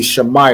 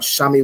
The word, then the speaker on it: Shammai: So it'd be Shammai one, right? Wherever you see the letter I, you want to pronounce it as I, right? It's not Shami one or anything else. It'd be Shammai one, right?